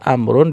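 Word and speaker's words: عمرو: Tapi kalau ada nama ditulisnya ain, mim, ro, wawu bacanya Amrun. Iya. Jadi wawu di situ fungsinya untuk membedakan kapan kita baca Umar, kapan baca Amr.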